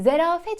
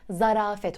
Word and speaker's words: zarafet: yanlış kelimelerden bir tanesi bir Zerafet şeklinde duyuyoruz Ama doğrusu Zarafet olacak sizde duyarsanız lütfen Zarafet olarak değiştirin listemizin ilk üçüne yaklaşmakta